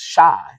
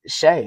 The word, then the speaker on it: Shai: I thought it was Shai, but it's Shay.